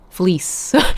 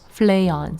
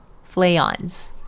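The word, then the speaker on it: Fleance: Shakespearean character for more names from Shakespeare. Stay tuned on how to pronounce these names from it a bit more as Flayans. Something in between as in Flayans.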